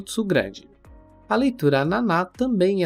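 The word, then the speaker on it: なな: primeira e mais comum Naná Nana com o cuidado que a pronúncia não é n que nós falantes da língua portuguesa acabamos pronunciando mas Naná Naná já é o próprio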